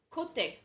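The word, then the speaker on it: côté: I see what word she thought you said, but that word it's pronounced. It's just cote. Cote. It just means the sides, like the side of something.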